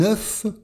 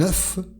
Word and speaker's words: œuf: Un œuf, comme le numéro 9, un œuf. Et attention au pluriel, la prononciation change. Des œufs.